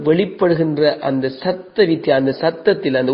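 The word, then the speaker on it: ص: இது இந்த சாதை பொறுத்த வரைக்கும் இது ஆங்கில எழுத்திலோ அல்லது தமிழ் எழுத்துக்களுக்கோ எது ஒன்றுக்கும் ஈக்குவலாக சமனாக வரமாட்டான். அப்ப இதோட உச்சரிப்பு நாங்கள் பார்த்தோம்னு சொன்னா, இது நாங்கள் ஏற்கனவே இலக்கம் 12 பார்த்திக்கிற அந்த சீன் இருக்கு இல்லையா, இந்த சீன் சத்தத்தை விட இது கொஞ்சம் பெருசாக இருக்கணும். அந்த சத்தத்தை விட இது கொஞ்சம் உயர்ந்ததாக இருக்கணும்.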